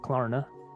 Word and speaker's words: Klarna: So Affirm or Klarna, Klarna, how do you pronounce that? Klarna.